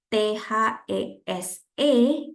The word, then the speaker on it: these: panjang gitu ya this tapi kalau ada t e s e itu bisa bacanya this gitu gu ya Jadi agak dipanjangin dikit these processes ya helps